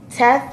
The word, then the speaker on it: teff: about Anjana injera is Tess made out of tests and tell our is this beautiful ancient grain